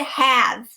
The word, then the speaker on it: have: e rule look at have have is one syllable so we would mark it as so have however it is not a long vowel sound it is a short vowel sound so we would mark